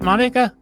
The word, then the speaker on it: Monika: with Monika Sattler do I have your name pronounced right Monica okay okay good very good you've got a